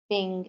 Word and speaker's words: PNG: like BMP gif JPEG ping and TIFF the JPEG jpg and PNG that is ping formats are more common jape